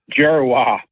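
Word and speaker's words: Dzierwa: So, I don't know how you get out of D and Z, you get a J, but that's how it's pronounced. Joseph Gerwa.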